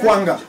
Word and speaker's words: Akwanga: I just want a proper pronunciation of your surname. So it's Dr. Akwanga.